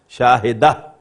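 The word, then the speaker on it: شاهدة: Now, Shahid means a witness, and its feminine is Shahidatun, which will be pronounced as Shahida.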